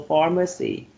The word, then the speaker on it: pharmacy: checkbox let me know pharmacy that's a free syllable for mercy and the first syllable receives the stress right far and you match